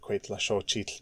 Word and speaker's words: Cuetlaxóchitl: There may be someone out there who knows authoritatively what the parts of Cuetlaxochitl mean.